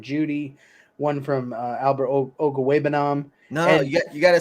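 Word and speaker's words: Okwuegbunam: it's like dude it's it's phonetically pronounced like printed in front of you and you've had a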